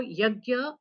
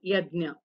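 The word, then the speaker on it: यज्ञ: But in I mean in South, it is called as jna. So yagya or yajna, these are same.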